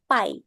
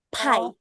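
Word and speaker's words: 牌: Dia bukan pie tapi pie. Oke. Harus ada anginnya.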